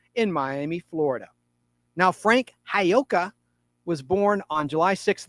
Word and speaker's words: Giacoia: it, and it was inked by Frank Hayoka. And that's spelled Giacoia.